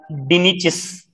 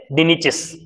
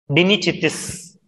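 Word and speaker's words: Dinichthys: Okay, example I have given, it is pronounced as dinichis. Okay, dinichis. Dinichitis sometimes, okay, because in future we will be studying like chondrichthyes, osteichthyes, dinichitis.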